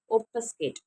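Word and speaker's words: obfuscate: Next வந்து recap session நம்ம என்ன பார்க்க போகிறோம்னா ஒப்பஸ்கேட், சரிங்களா? இந்த வேர்டு இப்படி தான் நம்ம வந்து ப்ரொனவுன்ஸ் பண்ணணும்.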